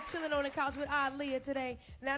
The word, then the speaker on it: Aaliyah: the corner be like that's lia what's the connect the connection they're not connected connect pronunciation pronunciation it is aliyah all right no more mistakes should ever be made uh i'll hear his